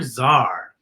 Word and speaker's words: czar: alphabet this is crazy s c it's for zar huh how about d d is for djibouti